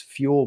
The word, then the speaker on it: Fuel: And so he's got this Fuel brand, which sounds like an odd name, but it's spelled kind of the way Buell is with an F.